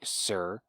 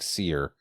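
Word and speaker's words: Cere: by former jedi knight sir is that how you say her name is it sir sir like uh now that you said that i feel like it was almost like seer like yeah i think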